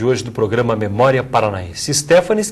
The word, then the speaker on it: Stephanes: do programa memória Paranaense stefanes que é a pronúncia correta desse sobrenome alemão o senhor acabou ficando conhecido como stefanis é a origem é stepan né Depois foi acrescentado es